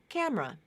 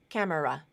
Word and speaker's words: camera: as three syllables interested camera two syllables I think that's much more common than camera has three try to pronounce it